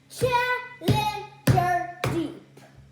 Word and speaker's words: Challenger Deep: It's Challenger Deep. 4 syllables.